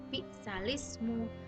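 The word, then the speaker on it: بِئْسَ الِاسْمُ: Tulisannya itu bi'sal ismu, tapi cara membacanya adalah bi'salismu.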